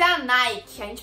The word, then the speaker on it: Nike: Então a marca Nike na gringa é pronunciada assim, Nike.